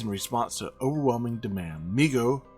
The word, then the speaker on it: Mego: Mego, pronounced Mego, of course, Corp, was started by